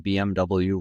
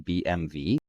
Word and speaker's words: BMW: I just learned that we've all been saying BMW wrong and it's actually BMV because W and German is pronounced V yeah blew my mind we say